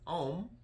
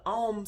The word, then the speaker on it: Om: out so mantra um the om sound it literally is four sounds okay three letters four sounds first sound is the a okay i know you see om but you're really oh